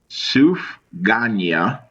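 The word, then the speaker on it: סופגנייה: Sufganiyya is how it's pronounced. Okay. Where is it from? Sufganya.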